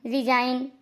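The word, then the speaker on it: resign: तो एन से पहले आया जी हमेशा साइलेंट रहता है। डिजाइन में भी आप देखिए, एन से पहले जी आया है। रिजाइन, एन से पहले जी आया है।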